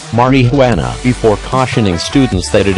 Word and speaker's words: marijuana: facts first on narcotics which begins with a note on pronunciation Marin who Ana is pronounced like this Mariana before cautioning students that